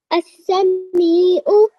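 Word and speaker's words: السميع: As-Sami'u. Okay, just prolong the me for just a little bit longer.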